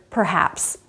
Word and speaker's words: perhaps: But this rule doesn't work in compound words where the sounds are in two separate syllables, like overheard or bear hug, or in the word perhaps. There, both sounds are pronounced.